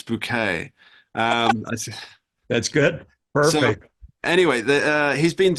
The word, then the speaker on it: Bucket: a British TV show higher since bucket uh and she said it's bouquet um that's good perfect